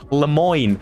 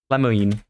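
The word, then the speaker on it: Lemoyne: in Red Redemption 2 which is called Le Moine l e m o y n e and it just can't remind me of that so I immediately went to the pronunciation of how I pronounce l Mo you know Le Moine L Moine but to be honest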